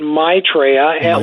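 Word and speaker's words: Maitreya: question first of all you pronounce it mraa like it's my mraa it's a Sanskrit name that means the the happy one the one who brings Joy mitraa is the name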